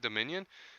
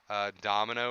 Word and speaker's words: Dominion: That's how you say it, Dominion. Okay. See, I used to add too many M's and O's. I used to say like domino or something.